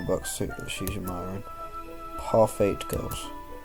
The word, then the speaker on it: Parfait: Parfait Girls. I don't think you're supposed to pronounce the T.